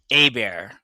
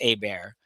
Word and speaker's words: Hebert: So, it's actually Heert is actually pronounced Abear. Like we we did discuss that that was the other option to pronounce that. So, its last name is actually pronounced Abear.